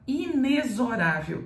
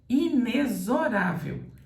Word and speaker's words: inexorável: aqui inexorável inexorável inexorável traz entre parênteses no dicionário a letra z isso quer dizer que esse x aqui deve ser pronunciado com som de z quando você tem uma